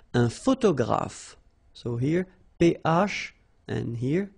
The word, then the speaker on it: photographe: Un photographe. So here ph and here ph. Pronounce it like f, f, f, f.